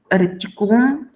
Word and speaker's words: reticulum: Reticulum, small tiny net. And if you see ulus, ula, then the accent is on the third.